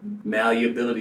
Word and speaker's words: malleability: I say that right malleability you say I I pronounce that wrong like you're missing a syllable that is necessary for